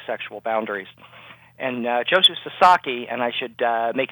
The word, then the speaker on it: Sasaki: And uh Joshu Sasaki, and I should uh make it clear, it's it's pronounced Sasaki.